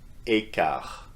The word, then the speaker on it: quart: Écart. So the T at the end, as you can see, or hear rather, is not pronounced.